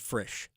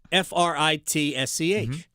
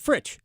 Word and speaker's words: Fritsch: For 5 years, I've been calling him Brad Frisch. It's Fritsch. Frisch. To me, he pronounces it Fritsch.